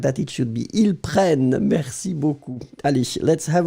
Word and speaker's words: prennent: Because when you've got and then double N right after, double consonant, it will open the sound of the So you'll pronounce prennent, So remember, so nous prenons because only one N. Vous prenez because only one N. Ils prennent because you get two N's.